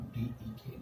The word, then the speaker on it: dec: लेकिन प्रोनाउंसिएशन हम लोग DEK लिखते हैं, DEC, लेकिन प्रोनाउंसिएशन में DEK करते हैं।